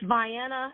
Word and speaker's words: Vienna: Pronounce the name of your school. It's Vienna Elementary.